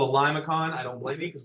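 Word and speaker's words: limaçon: like that and back it's called a limacon or liong it's actually how you say it it has an inner loop so liason is how you say it it's French but what that word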